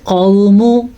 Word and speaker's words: قوم: ہم نے پڑھا قوم، قوم آپ نے ایسے ہی پڑھنا، ٹھیک ہے، میم کو لمبا نہیں کرنا، میم کے اوپر صرف پیش ہے۔ لوط بالنذر، یہاں پہ